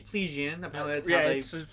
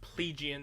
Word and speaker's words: Plegian: plaguing she's playing she's pleasian pronounced plegian which i didn't know listen calling it plegian is for the plebeians well that's kind of why i'm like that sounds more like plebeian anyway um katarina also